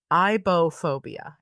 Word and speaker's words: aibohphobia: Um, so this one is called ibophobia, and it's spelled AIBOHPHOBIA.